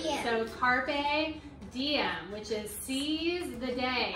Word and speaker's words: carpe diem: Okay, how do you pronounce that I in Latin, though? It's like an E. Diem. So, carpe diem, which is seize the day.